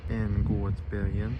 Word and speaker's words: Änggårdsbergen: Try and get the pronunciation right. Änggårdsbergen.